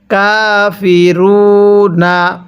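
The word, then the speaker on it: الكافرون: রাখবেন যদি ওয়াকফের সময় শেষ হরফের উপর এরকম জবর থাকে তাহলে সেটিকে বাদ দিয়ে দিব অথবা উপরে পেশ থাকলে সেটিকেও বাদ দিয়ে দিব এবং যদি নিচে জের থাকে তাহলে সেটিকেও বাদ দিয়ে দিব তাহলে কিভাবে পড়ব কাফিরু এখানে নুনের উপর জবরকে বাদ দিয়ে দিছি। তাহলে কাফিরুন তাহলে আপনি আমার সাথে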